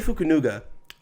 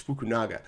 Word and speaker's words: Fukunaga: will have to find a new director krie fukuno um I believe that's how you pronounce his name fukunaga sorry my apologies fukunaga has been rising the ranks as somebody to